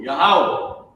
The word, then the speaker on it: Yahweh: This is how you say it in Hebrew, Yahweh, Yahweh. And this is how you write it in English, meaning write the pronunciation, right?